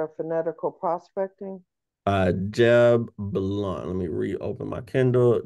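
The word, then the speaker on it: Blount: who's the author of fanatical prospecting uh Jeb blunt let me reopen my Kindle Jeb blunt okay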